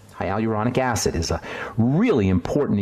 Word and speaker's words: hyaluronic: slowly because it's somewhat hard to produce to pronounce High Al uronic acid hyaluronic acid is a really important ingredient in SK